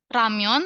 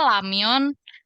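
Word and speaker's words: 라면: tulisin pelafalannya masa lamyon gitu. Sementara R-nya nggak L banget. Terus nggak R banget juga gitu kalau di awal ya. Jadi agak-agak samar-samar gitulah bunyinya. Makanya aku bilangnya ramyon gitu.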